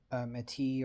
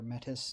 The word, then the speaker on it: Metis: Homids, lupus, and Meti or Metis, depending on how you want to pronounce that.